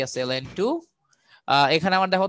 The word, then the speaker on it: ln: এটা কিন্তু ln, কিন্তু এটাকে ln বলো, এটাকে লন বলো, লন কিন্তু সঠিক উচ্চারণ না, সঠিক উচ্চারণ হচ্ছে ln।